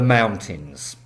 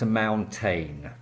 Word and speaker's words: mountain: In the wintertime lots of people go to the mountains. So the word is MOUNTAIN. Mountain, it is not pronounced mountayn.